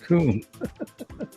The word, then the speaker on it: KUM: It's like, no, it's not cum as UM. It's KUM pronounced coom.